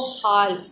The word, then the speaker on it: half: आपने इसको हाफ, एल इसमें साइलेंट है, हमने इसको हाफ प्रोनाउंस करना है.